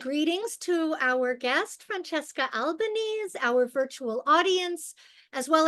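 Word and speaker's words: Albanese: with Franchesca albanes or Alban Franchesca how do you pronounce how do you prefer the pronunciation of your last name in my mother tongue it's Alban Alban okay wonderful of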